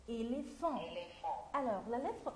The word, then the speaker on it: éléphant: اوكي يلا نرجع تاني كلمة éléphant. E E accent L E accent P H se prononce F F éléphant A plus N plus T se prononce nasal هنقول en comme quoi comme deux fonds comme quoi comme deux fonds.